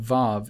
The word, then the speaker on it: vav: That middle vav, what the Jews call it, vav, the middle U, they deem that it needs to be pronounced as a V there.